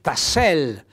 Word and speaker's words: tassello: tonico sulla tassel invece in realtà è il tassello e quindi l'accento tonico va sulla e 100 tonico e approfittiamo